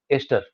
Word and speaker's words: ester: Next, Sir, it's pronounced as Easter or Esther. polyester pronounce होता है. ईस्टर वो तो जो क्रिश्चियंस का त्योहार होता है उसको ईस्टर बोलते हैं. This is actually ester, polyester.